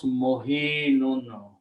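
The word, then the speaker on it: مهين: So what we do to easy pronunciations, we switch these two harakats. So we take the kasra back here and bring the sukoon here. So the word now is easy to pronounce, mohinun.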